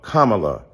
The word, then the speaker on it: Kamala: you call Melania Melania do you call Ivanka Ivanka then call Kamala Kamala then call vice president